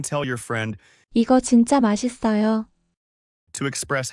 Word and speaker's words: 맛있어요: The pronunciation is 맛있어요.